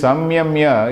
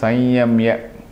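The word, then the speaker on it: संयम्य: So this samyamya is actually pronounced as sanyamya. by, in fact, the people who actually traditional way of pronouncing or the most correct way of pronouncing is Sanyamya.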